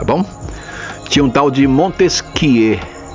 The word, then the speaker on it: Montesquieu: que um tal de Montesquieu e se escreve Montesquieu mas na hora de falar você fala muito esse que que é francês tinha um tal de